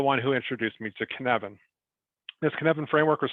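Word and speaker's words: Cynefin: was at ibm and it's a welsh word and that's why kinevin is not at all how it's spelled but that's how it's said it actually start uh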